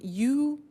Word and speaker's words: used: Now, this verb used to, well, it's written U-S-E-D, but the pronunciation is used, and we'll see that on the screen later.